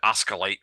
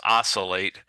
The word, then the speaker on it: oscillate: couple times plus I heard that person uh pronounced it osculate with a c with a a hard sounding C it's oscillate uh and it just means to move back